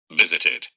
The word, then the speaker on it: visited: Visited. What is the pronunciation? Visited. ID. It. D. It's visited. Como termina en T, entonces se pronuncia it.